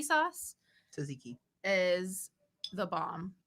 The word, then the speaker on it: Tzatziki: They're really good, and there's fuck, I don't know if I'm gonna pronounce it incorrectly. Suzuki sauce Tzatziki.